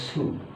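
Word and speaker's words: す: কোন স অক্ষর নাই এটাকে শি হবে লেখার সময় শি লিখতে হবে বলার সময় স বলতে হবে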